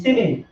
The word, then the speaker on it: ceiling: যেমন হচ্ছে দেখেন আছে সিলিং, সিলিং, CEILING, সিলিং, উচ্চারণটা হয় সি, কথা বুঝছেন কিনা?